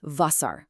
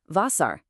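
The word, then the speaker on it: Wasser: This is the letter W, but in German it sounds like the English letter V. So we pronounce it V. A great example is Vasar, which means water.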